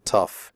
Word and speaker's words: tough: The O-U-G-H in tough is pronounced uff, like in stuff.